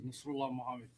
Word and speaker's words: Nasrulah Mohamed: My name is Nasrullah Mohammed. That is spelled NASRULAH MOHAMED.